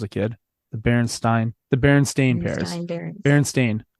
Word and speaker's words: Berenstain: Berenstain, like stain, as you stained a wall or stained paint.